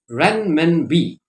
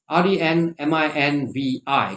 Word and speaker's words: renminbi: foreign exchange in china that is called renmenbi renminbi r-e-n-m-i-n-b-i keep that in mind the chinese currency is